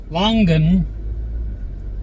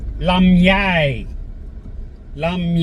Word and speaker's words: longan: The langan the English pronunciation langan fruit lami lami in Thai now I'm deaf in